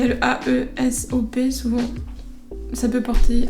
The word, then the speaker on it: Aesop: Ensuite, côté pro, on voit une petite crème pour les mains Aesop, ça se prononce Aesop la marque. Comme il y a le A-E-S-O-P, souvent ça peut porter à confusion, du coup ça se dit Aesop.